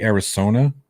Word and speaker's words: Arizona: Could be Arizona. You mean Arizona? I said it right. You said it with an S. It's a Z.